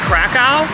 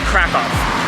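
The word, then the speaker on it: Kraków: So there's a couple different pronunciations. I guess in English you can say Krakow, it's with a K, but the more authentic pronunciation is Krakow.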